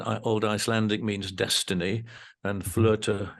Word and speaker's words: Flöte: Icelandic means Destiny and flirta in which is the German and other Germanic language pronunciation and spelling of flute the instrument I play so that's